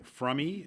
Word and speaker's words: Fromme: is uh Lynette Alice from or as she corrected judge McBride fromy is how she wanted the name pronounced at the trial well in a lot